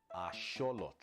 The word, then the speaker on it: axolotl: How do you pronounce it? And it's asholot. Asholot. That's how you pronouncing it.